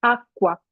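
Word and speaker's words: acqua: Entonces se añadió la letra C para marcar un sonido fuerte y claro, de tal modo que se pronuncia aqua.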